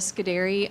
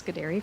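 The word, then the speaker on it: Scudiere: pronounce my last name I usually tell people it's scud like the missile and dairy like the farm so now you all remember that it's scir from now on um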